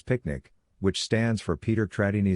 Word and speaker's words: PQNK: PQNK to be pronounced as picnic which stands for Peter Tratini Zamashadakiari and means the regenerative and sustainable pristine organic farming system.